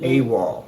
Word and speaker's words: AWOL: How do they pronounce this machine? All right, guys. CES 2023 checking out the AWOL Vision. AWOL.